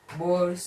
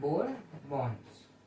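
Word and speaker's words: Born's: Okay, this is what is known as Bor's interpretation not bore bonds.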